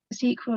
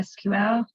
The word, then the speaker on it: SQL: like ss or spss databases like sql or sql depending how you say it or um and